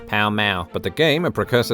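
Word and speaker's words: Pall Mall: called palamaro or palmal the pronunce iation of which can still be heard in London today when locals pronounce the street name of the same name pow ma but the game a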